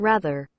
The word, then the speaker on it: rather: rather right right and americans usually have that hard r on the end so you get that rather rather but anyway we